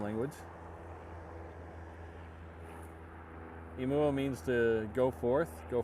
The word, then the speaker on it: Inouye: It is pronounced Inouye, long vowel sounds for Hawaiian, not Imua, as I've heard some people call it on other streams. It's definitely Inouye. All the vowels have long sounds in Hawaiian language.